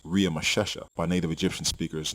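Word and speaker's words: Ramesses: the royal name ramsy in which was actually pronounced RI masesa by native Egyptian speakers not ramsy the Egyptian name in gen 4711 and exodus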